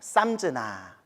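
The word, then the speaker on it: संज्ञा: 자, 따로 해서 상이 산스크리트어로는 따로 해서 쌈즈나라고 발음해요. 쌈즈나.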